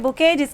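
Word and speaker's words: bouquet: है उसको कहते हैं बुकेट्स की स्पेलिंग होती है बी ओ यू के यू एट जी मिट्टी साइलेंट होता है ये तो सबको पता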